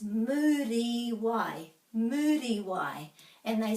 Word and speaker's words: Muriwai: Another thing that happens very commonly is that the U is pronounced like you, but it's actually U. A, e, I, o, u. So many people say Murawai, but this is Muriwai.